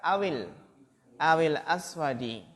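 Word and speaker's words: أَوِ الْأَسْوَدِ: Au di sini kalau dibaca menyambung maka awil aswadi. Liyaktub at-tulabul ajwibata bil hibril azraqi awil aswadi.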